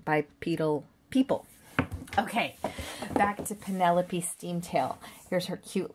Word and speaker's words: Penepole: round and that includes getting my name right it's p n e p o l e please pronounce it precisely Penelope okay loving that beautiful